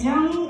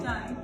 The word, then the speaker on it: Johnny: Is it Joni or Johnny? Johnny.